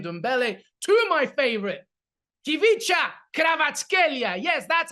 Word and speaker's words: Kvaratskhelia: Cholo's son, of course, to Tanguy Ndombele, to my favorite, Ivica Kvaratskhelia.